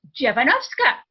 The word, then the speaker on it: Dziewanoska: They go, Dziewanoska.